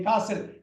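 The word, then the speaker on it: castle: market and கேஸ்டல் okay காசில் அந்த டி சைலெண்ட் டிஸ் உச்சரிக்க கூடாது காசில் அமெரிக்கன்ஸ் வந்து காசில் அமெரிக்கன்ஸ் பிரிட்டிஷ் வந்து காசில் அப்படிம்பாங்க ரெண்டு பேருமே டீய உச்சரிக்க மாட்டாங்க ஆனா வேற மாதிரி உச்சரிப்பாங்க யுகே காரங்க வந்து காசில் போட்டேன் காசில் அமெரிக்கன்ஸ் வந்து காசில் காசில் காசில் காசில் அப்படி இருக்கும் ஆனா டிய வந்து உச்சரிச்சிடக்கூடாது டஸ் இட் ஹாப்பன் எவரிடே பாருங்க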